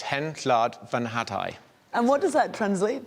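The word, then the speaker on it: Hen Wlad Fy Nhadau: So it's Hen Llad Fy Nhadau.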